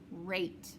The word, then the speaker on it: rate: sound so for instance if you had the word um rat r-a-t the ass says the a-sound short sound and you'd put the silent e on the end it turns into rough eight rate okay like your heartbeat is going fast it has a high rate okay so let's do